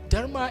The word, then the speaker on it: Dharma: Dharma is spelled as D-H-A-R-M-A. Not the Dharma in this town, but there's H after the D.